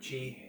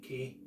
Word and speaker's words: ki: Qigong they talk about Chi Ki as it's pronounced in the Japanese style um and Prana It's